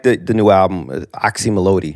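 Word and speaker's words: Oczy Mlody: me or even like the the new album oxy melodi right that's how you pronounce it exactly you're like the first person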